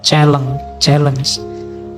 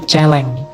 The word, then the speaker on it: challenge: Kebebasan itu adalah sebuah penaklukan, selalu bersifat khusus, selalu penting, selalu menantang, challenge. Saya dulu ada teman yang bacanya bukan challenge tapi celeng.